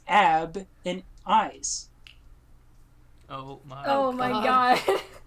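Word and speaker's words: YZ: is y z brilliant i also made a pronunciation for them because it's ab and eyes oh my god it's eyes i'm an eyes it's like big sense it's not y z i was like that's dumb to say so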